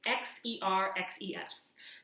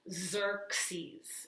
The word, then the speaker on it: Xerxes: It's Xerxes. The first X is pronounced like a Z, and then the second X is pronounced more like you'd think of an X. So Xerxes is how you say it.